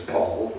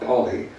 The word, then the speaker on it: Paul: My friend Teddy's talk, who, after I corrected Tristan's pronunciation, Teddy's name is Teddy's surname, which is Paul, not Polly.